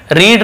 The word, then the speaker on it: read: यहाँ पे तीनों एक जैसे हैं, spelling READ, READ, READ, रीड यानी पढ़ना, लेकिन इसे बोलते समय अलग अलग पढ़ते हैं। रीड, रीड, रीड, कई लोग ऐसे बोलते